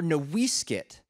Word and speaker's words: NoiseCat: and that meant something because noise cat or noisekit as the name was originally pronounced before the missionaries came down wrote it up and messed it up it nearly died out